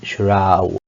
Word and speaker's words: shroud: But when you have SHR, this SH is said like sh, and we said that this is sh. Sure. But this one is not gonna be ode, it's gonna be shroud. It's gonna be ow, shroud.